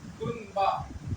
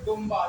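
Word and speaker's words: دنبہ: होगा कब तो देखिए यहां पर लिखा है दुन बा दाल नून पेश दुन बा हा ब दुम बा लेकिन इसको हम पढ़ेंगे दुम बा इस नून को हम मी पढ़ेंगे क्यों क्योंकि नून के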